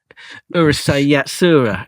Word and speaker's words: Urusei Yatsura: It's yatsura. Is it? Yeah, that's right.